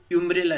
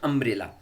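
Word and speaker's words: umbrella: अन्य से हो, जैसे इसको यूम्ब्रेला नहीं पढ़ते अपन, यूम्ब्रेला नहीं पढ़ते हैं, यूज का उच्चारण यू से नहीं बोलते हैं, बल्कि इसको पढ़ते हैं अम्ब्रेला।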